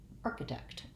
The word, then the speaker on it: architect: in the last syllable so i want to think about arc uh i think i'll write it with a k just an ark just like the word arc arc uh architect um watch for making